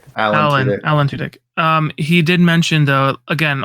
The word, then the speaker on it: Tudyk: No, Adam Tudyk, is that how you pronounce last name? Alan Tudyk. Alan Tudyk.